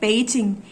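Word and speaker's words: Beijing: pinion सीखते हैं तो यह इंग्लिश का बी असल में प पढ़ा जाता है प पे चिंग तो सही उच्चारण इसका है पेजिंग हिंदी अखबारों में भी कभी कबार नाम पेजिंग ही लिखा आता है यदि आपने ध्यान दिया होगा तो अन्यथा हम लोग अंग्रेजी और हिंदी में बीजिंग बोल देते हैं तीसरा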